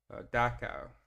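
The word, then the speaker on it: Dachau: And let's get some pronunciation. DOA.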